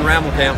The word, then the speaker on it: Rammelkamp: pronounce that, right? Yeah, Rammelkamp from Microfiber. Rammelkamp.